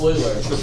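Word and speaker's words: Euler: more than 116 is it pronounced that is not pronounced ERS it'ser that's not that either it's Oiler there you go bar it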